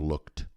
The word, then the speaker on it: looked: Mas essa letra E não é pronunciada. É I have looked. Looked. Looked. Você pronuncia o K e depois o D.